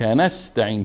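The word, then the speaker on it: نستعين: باز یادداشت کردیم ا نستعین هارون جان ایا نستعین ک نستعین سین داریم بعدش ت سینم باریک خوانده میشه و ت هم باریک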